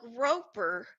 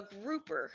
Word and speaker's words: grouper: smack that tap was a groper a grouper I have to say it right because he groped me